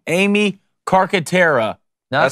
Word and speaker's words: Carcaterra: Oh, Amy, I'm going to get this last name wrong. Amy Carcaterra.